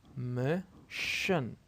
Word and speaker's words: mission: Mission. Mission. Mission. So as we said that, this part alone is pronounced shin, so it is easy. It became easy.